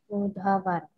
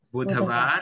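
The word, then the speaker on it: बुधवार: Jadi Senin, sombar, Selasa, Bacanya apa nih? Manggalar. Manggalwar, ya, Manggalwar. Selasa Manggalwar, Rabu Budhavar. Budhavar, ya, Budhavar, Rabu ya.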